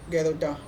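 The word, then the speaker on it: Gerota: और posterior fascia क्या है, फेशिया ऑफ जिरोटा है ना, गेरोटा भी बोलते हैं, या फिर कोई इसका प्रोनाउंसिएशन जिरोटा भी, प्रोनाउंसिएशन में ही ऐसा रहता है कि अलग अलग तरीके से किया जाता है। उसके बाद में इसका सही प्रोनाउंसिएशन गेरोटा, ठीक है।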